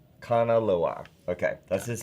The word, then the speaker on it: Kanaloa: And thank you for the pronunciation. Kanaloa. Kanaloa.